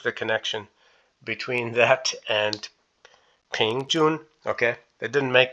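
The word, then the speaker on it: 平: that there is pronounced ping and it's upward tone ping and this one here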